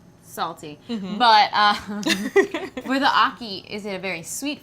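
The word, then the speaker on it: ackee: huh I have to try me some it's Aki Aki how how do you spell that a c k e e Aki okay got it all right I'm going to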